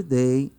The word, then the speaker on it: they: Lembre-se mais uma vez que a pronúncia do TH você deve morder a língua. They, ok? Tem um som de Z junto com D aí, quando você morde a língua para falar, ok?